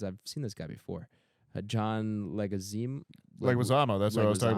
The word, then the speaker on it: Leguizamo: Paul Adelstein, John, how do you pronounce his name? Because I've seen this guy before. John Leguizamo.